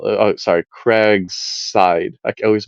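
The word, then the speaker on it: Cragside: the plan on D drawing this is a Craigs dial oh sorry craigside I always mispronounce it uh craigside was a a foundational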